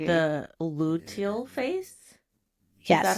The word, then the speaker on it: luteal: the luteal phase. Is that how Yes, you pronounce it?